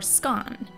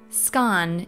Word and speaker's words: scone: you say scone or scone because in britain it's pronounced both ways so do you pronounce it scone as in rhymes with bone or scan as in rhymes with